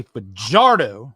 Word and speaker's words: Fajardo: I mean, I'll say his name right, Cody Fajardo. There you go. Fajardo, like I was saying for half of the season last year.